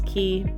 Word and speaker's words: Cay: I'm pretty sure it's Key, but it looks like it's spelled K, C-A-Y.